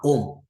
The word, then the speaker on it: ohm: Maintenant, les R là, c'est la résistance du conducteur ohmique en ohm. Voilà comment ça se prononce.